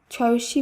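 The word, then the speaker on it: ছিঃ: আহ রস্যু বিসর্গ উহ ছয়ি বিসর্গ শব্দটির উচ্চারণ হবে ছি একইভাবে ওহ যা এইভাবে হয়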